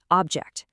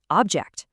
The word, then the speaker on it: object: When these words are nouns, the stress hits that first syllable. Record, desert, object. But watch what happens when they become verbs. The stress shifts to the second syllable. Record, desert, object. It's such a subtle little thing, but it's a powerful rule that completely changes the word.